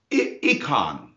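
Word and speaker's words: eikon: word that's familiar to you in fact it's econ but it's spelled e-i-k-o-n but we have our word icon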